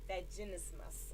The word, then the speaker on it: vaginismus: they call let me see if i can pronounce right vaginismus oh lord it's v-a-g-i-n-i-s-m-u-s okay that word and